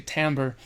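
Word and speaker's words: timbre: relates to Tim Tambor there's so many ways to say that word as well Americans say Tambor so this aesthetic of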